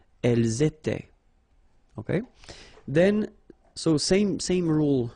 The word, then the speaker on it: étaient: Nous étions, vous étiez, ils étaient, liaison as well here, and then remember, this is not pronounced. Elles étaient.